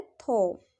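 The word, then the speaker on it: though: और नेक्स्ट देखिए, नेक्स्ट है थो। ठीक है, THOUS थो है। इसमें भी लास्ट में जी एच है तो वो साइलेंट हो गया है।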